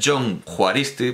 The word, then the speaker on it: Jon Juaristi: h HN juaristi no en realidad es John juaristi porque bueno es que el vascuence según el dialecto pues pronuncia da un valor distinto a la J pero vamos digamos en